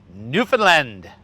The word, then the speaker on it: Newfoundland: Newfoundland. Pronounce it properly, please.